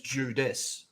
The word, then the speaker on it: Judas: his name is not Jew his name is judis it's not even spelled